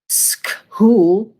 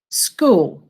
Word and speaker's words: school: school to school school there's a silent letter you know what the silent letter is in this word what's the silent letter well i can hear that one what's the silent letter in school oh there it is the silent letter is h there's no sound i can't hear skull no school i can get money here